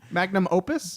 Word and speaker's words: magnum opus: I pronounced that completely wrong. Magnum Opus?